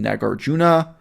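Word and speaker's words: Nāgārjuna: nagarjuna became very popular Some people prefer to pronounce that name nagarjuna whatever knock yourself out I mean how we pronounce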